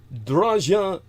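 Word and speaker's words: Draja: Draža Mikarić.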